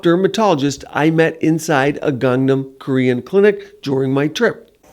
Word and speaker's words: Gangnam: Pronounce it properly for them. I say Gangnam. Gangnam? Okay, I'm close.